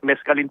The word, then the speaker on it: mescaline: Mescaline ang pronunciation, attorney? Yes, Sir Aljo, mescaline po.